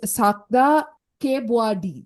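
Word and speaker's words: Sakda Kaewbuadee: It's Sakta Kebwadi.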